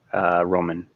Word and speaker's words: Roman: Is it Roman? Okay. Well, ramen would be Raman, like the noodle.